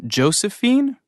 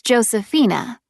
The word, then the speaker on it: Josefina: Is your first name Josephine? Actually, it's Josephina. It's spelled Josefina.